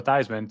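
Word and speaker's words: Theismann: Rest in peace, Roger Valdiseri, the man who changed Joe Thesman's name to Joe Thyman to make it rhyme with Heisman.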